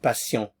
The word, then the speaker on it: patient: In French, patient. Patient. Notice I'm not pronouncing the end here.